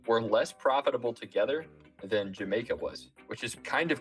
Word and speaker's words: Jamaica: to be New Amsterdam, they changed Yameco to Jamaico because the Dutch didn't have an easy time pronouncing that J. And then that O sound kind of shifted from an O to more of an A. So it became more like Jamaica instead of Yameco.